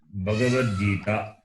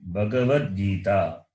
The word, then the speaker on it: Bhagavad Gita: Bhagavad Gita, not Bhagavad Gita. That guy is Gakara plus A. The vowel A is there. The A should be pronounced.